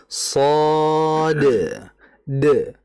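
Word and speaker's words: صاد: Kalau dibaca shad de. Karena memang secara ejaan ada dalnya. Oke. Nah, itu yang dimaksud dengan ejaan adalah tadi sesuai dengan hurufnya. Ejaan hurufnya. Kalau membaca sesuai hurufnya saja, maka kita harusnya bacanya apa? Sh. itu namanya huruf.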